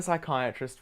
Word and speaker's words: psychiatrist: ending in k psychiat it doesn't work because the p is silent but we need to bring in a psychiatrist for you because you